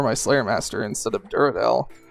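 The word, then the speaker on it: Duradel: Slayer Master instead of Durell or I guess Kurdell at this point. Um, Kurdal. Kurd Doll specifically. Curell isn't actually right. You have to be phonetically correct about these things, but I've actually switched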